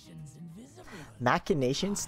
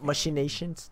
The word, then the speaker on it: machinations: we did one damage machinations that's how you pronounce it not mushy Nations no that doesn't sound right machinations give our minions